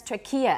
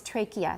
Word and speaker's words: trachea: and you said trachea there's an old pronunciation that's trachea and that's going to come up in an exercise in the book later on but the way we say it now is trachea that's right it just